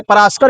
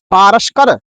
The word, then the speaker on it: पारस्कर: बहुत सुंदर पुस्तक है पराशकर गृह सूत्र। ये हम लोग सुनते हैं ना, पराशकर गृह सूत्र, यही पराशकर गृह सूत्र है। पारस्कर, इसका शुद्ध उच्चारण होगा पारस्कर गृह सूत्रम।